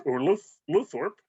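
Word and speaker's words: Lowthorpe: Our director this week, Philippa Luthorpe, or Luthorpe, if you want to pronounce all the letters.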